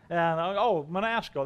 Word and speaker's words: Manasco: I said, it rhymes with fiasco. Manasco, that was it.